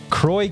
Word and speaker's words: Croy: Jeffrey Grimm, CJ Collins, Croy Keener, he emailed us. That's the correct pronunciation. Hey, holy shit. It is like LaCroix, the sparkling water.